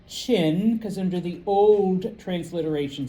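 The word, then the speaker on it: Qin: Remember, or those of you who are new, even though it starts with a Q, uh I g. All right. It's pronounced chin because under the old transliteration systems it was ch h i n.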